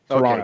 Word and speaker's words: Toronto: it tonor ton ton you just don't pronounce the last T Toronto okay Toronto got it